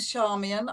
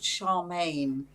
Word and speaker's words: Charmian: got it right because i get called charmaine so often people make the choice to mispronounce my name charmaine completely different name charmian comes from the greek word meaning little joy and charmaine comes from the french one meaning little tart um so glad that